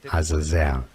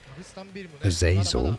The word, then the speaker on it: Azazel: If you want to learn more confusing but Hebrew pronunciation, Azazel. Azazel. In English, however, you have different pronunciations that do exist. Azazel is one of them.